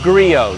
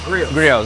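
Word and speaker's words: Griot: yeah just so you know they say it's Grio G Grio yeah a lot of people mispronounced it I did too when I first heard it but it is Grio and this is the flex 341 and this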